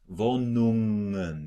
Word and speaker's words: Wohnungen: Wohnungen. You just go smoothly out of the NG.